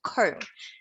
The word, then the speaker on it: comb: this is comb so notice that with comb the b is pronounced silently it's a silent letter okay so it's comb this is a curve